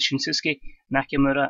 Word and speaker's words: Shinsuke Nakamura: However else MD pronounces it, I pronounce it Shinsuke Nakamura in an unbelievable double main event.